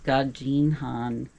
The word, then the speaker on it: Gadžin Han: So, we're in the town of Gadžin Han. It looks like Gadžin, but it's pronounced the D the DŽ combination in Serbia is pronounced like a J, like in judge. So, it's Gadžin Han.